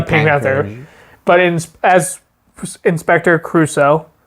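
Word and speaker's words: Clouseau: I was going to say the Pink Panther, but as Inspector Crusoe, right?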